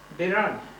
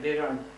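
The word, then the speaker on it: Biranj: Biran. The name of the village was Birain. Huh? Birain? Yeah, Biran. B-I-R-A-N-J. See, N-J pronounced Nya.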